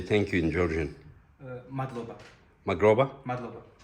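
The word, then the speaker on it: მადლობა: Magroba? Madloba.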